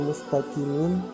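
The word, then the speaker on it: مُسْتَقِيم: membacanya adalah ta'lamun yang kedua tulisan aslinya mustaqim karena waqaf cara membacanya adalah Mustaqim Hai yang ketiga tulisan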